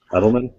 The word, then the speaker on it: Edelman: chrisman edelman frisman edelman you got that edelman like like edelman e-d-e-l-m-a-n like that patriots wide receiver yeah julian julian all